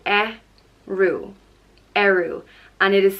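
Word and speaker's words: Ériu: Patrick the next goddess is arrow and she's known as the patron goddess of Ireland and it's pronounced a rue arrow and it is spelt with a bada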